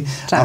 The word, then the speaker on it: Čačak: Is that am I pronouncing that correctly? Chachuk.